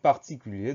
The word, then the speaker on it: particulier: ça donne particulière et on entend ce r qui est muet dans le mode particulier donc on fait simplement